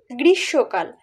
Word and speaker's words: গ্রীষ্মকাল: আবার গ্রীষ্মকাল বলি, গ্রীষ্মকাল কিন্তু বলি না, বলি গ্রীষ্মকাল।